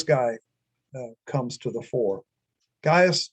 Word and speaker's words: Gaius: Gaius Julius Caesar, or probably pronounced more like Caius Julius Caesar.